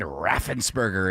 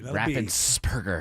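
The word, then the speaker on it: Raffensperger: We've got Brad Raffensberger in the news here. That's a P, by the way. Raffensburgger.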